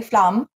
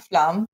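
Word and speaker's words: Flåm: Called the Flam Railway, Flam, I think is how they say it.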